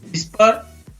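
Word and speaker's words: whisper: What, when, वेयर, which, Y, विट, वाइट, विस्पर, will, वीज। इसी प्रकार WR से शुरू होता है तो उसमें भी W का उच्चारण नहीं होता है, तो इसको पढ़ेंगे rap, wrong, wrist, wrinkle, ring.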